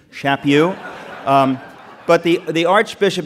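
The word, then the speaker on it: Chaput: It's pronounced Shappu. Nobody Nobody gets it right, but it's Shappu. I met him recently and he told me it rhymes with slap you. Shapu.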